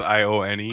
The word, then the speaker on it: Ione: I don't know how do you pronounce it. It's Ione.